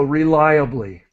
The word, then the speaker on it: reliably: okay and so just this word is is important r that syllable is lie so reliably M rely on something